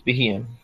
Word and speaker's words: Beheeyem: I think it's Beheeyem. It's Beheeyem.